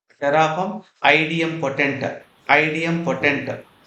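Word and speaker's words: idempotent: what I said terraform IDM potent IDM poent some people may saym IDM actual word is IDM poent only maybe they pronounce different ways okay right what is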